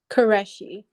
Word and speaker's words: Karesi: your your name correctly could you say it karesi okay okay and I said karashi at the beginning okay Ki and you